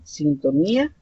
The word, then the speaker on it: sintonía: caso de sintonía grave en el caso de sintonía es una palabra que si ustedes verifican este es mi nieto verdad porque me retiran este lado en la última fila y luego sería en él sería la la penúltima sílaba entonces esa sería digamos